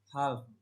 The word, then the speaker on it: half: Half, pengucapannya half. A sebelum LF dibaca AA panjang.